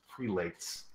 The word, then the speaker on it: Prelates: How do you say it? Is it not Preletis? It's Prelates. Prelates? It's a prelates, as I believe, the most accepted. Oh, like zealots?